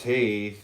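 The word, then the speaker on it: Teth: Teeth pronounced tith transcribed as I.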